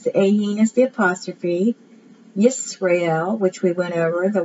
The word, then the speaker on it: Yisrael: Yisrael. Not Israel, but Yisrael.